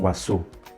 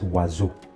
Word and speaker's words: oiseau: Okay, so in French, if S is found in between two vowel sounds, it will be pronounced Z and not Sa. So I'm not saying oiseau, it's oiseau, oiseau.